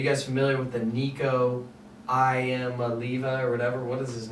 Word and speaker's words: Iamaleava: His name is literally Nico Iamaleava. Like I'm gonna leave you. Like that is literally like his name. That's what it sounds like. That's His good. name is literally spelled like I'ma leave you.